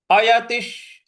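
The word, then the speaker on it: अयतिः: अयतिश अयतिश अयति के आगे जो विसर्ग है त पर छोटी की मात्रा है और जो विसर्ग है उसके आगे श्र है। तो जो विसर्ग है उसका श का ही उच्चारण ले आएंगे।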